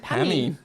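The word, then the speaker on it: Pamee: It's spelled... it's P-A-M-E-E. Is it Pammy? Pammy.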